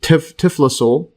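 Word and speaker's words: typhlosole: Actually, this is the typhlosul. And yes, this one intestine is right here. And then the typhlosul. See the pronunciation again.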